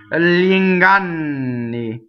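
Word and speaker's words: gl'inganni: G-L-I in Italian is like yi preceded by l. So yi. So if I do it backwards, this is how we practice to get really, really proficient at this, is yi. You do yi with a strong y.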